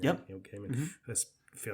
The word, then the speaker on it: Gaiman: Neil Gaiman.